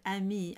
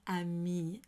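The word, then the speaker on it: amie: I sing it and when I speak it the way I would sing it I add the e sound and mirror and that's just very common 19th century and so on to pronounce the e at the end of a me and when you're singing it so in both cases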